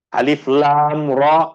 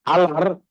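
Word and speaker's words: الر: Huruf-huruf yang dibaca dengan bacaan yang terputus. Maknanya, ketika kita membacanya seakan-akan dia adalah huruf yang terasing. Seperti alif, lam, dengan mim. Bukan menjadi satu perkataan, bukan alam. Kaf, ha, ya, ain, sad. Alif, lam, ra, bukan alar.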